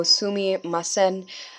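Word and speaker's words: すみません: So sumimasen, again for the pronunciation. I remember when I was around 2 or 3, I would try and repeat these syllable by syllable, so I hope you guys do that as well.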